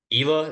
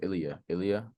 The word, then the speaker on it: Ilya: But Ela, is that how you say it, right? I think it's Ilya.